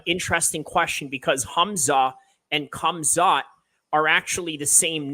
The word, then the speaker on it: Khamzat: No, he's not, but interesting question because Hamzah and Khamzat are actually the same names, except that Khamzat is just the Chechnyan Russian pronunciation of Hamzah, right?